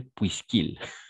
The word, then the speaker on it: puisqu'il: puisque accepte l'émission donc on va prononcer puisqu'il puisqu'il pleut OK oui ce qu'il pleut puisqu'il pleut exact c'est ça oui c'est